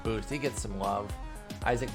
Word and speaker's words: Isaac: he gets some love isaac paredes or they actually say on the broadcast issac paredes so i'm gonna go with that pronunciation i feel like the tigers announcers would know better than i do um so i'm actually going to go with that isak paredes trevor story y'all hey